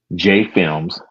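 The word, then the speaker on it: JAE Films: And we put together a film company called J Films, which is spelled JAE, which stands for James and Eric.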